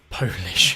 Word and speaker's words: polish: I assume you're not talking about Polish language. No, polish, not Polish, polish. So it's similar to Polish, but it's spelt the same.